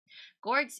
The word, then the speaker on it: Gorgs: and their dog have gorgs is pronounced with a hard G like the word good not like George gorks okay you're a young